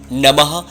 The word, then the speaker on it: नमः: यह मंत्र गलत है यहां पर ह का उच्चारण होता है ओम नमः शिवाय तो जैसा मैं पढ़